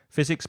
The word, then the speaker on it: physics: your area, your region, physics, biology, chemistry. Be careful of the pronunciation of that hard K at the beginning of chemistry, and also the F of physics, geography, history, IT, information technology, economics, religion, and sports.